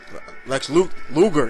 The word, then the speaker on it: Luger: Luger, yeah, I'm saying it right.